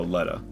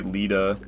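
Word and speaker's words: Leda: like a Lea oh Lea yeah that's how they pronounce it people will say Lita but they they pronounce her name Lea in game so I pronounce it that way as well cuz that's what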